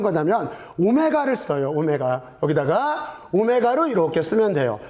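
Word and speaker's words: omega: 여기다가 오메가로 이렇게 쓰면 돼요. w라고 읽으면 안 돼요. 오메가예요.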